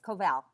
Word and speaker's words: Koval: Is that how you pronounce it, Ruchi? I don't want to say it wrong. Thank you. It's Koval.